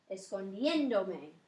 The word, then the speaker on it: escondiéndome: Because the natural accent when you just say escondiendo is on that E. So when you add that pronoun at the end, it would change the way you pronounced it because naturally it would be escondiéndome. So you have to maintain the original sound of that participle.